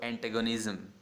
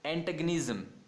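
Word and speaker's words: antagonism: Competition के अंदर, और एंटेगनिज्म। क्या है प्रोनाउंसिएशन, एंटेगनिज्म। तो यहाँ पे आपको GO को गो प्रोनाउंस नहीं करना है, एंटागोनिज्म नहीं बोलना है, एंटागनिज्म, एंटेगनिज्म। करेक्ट है।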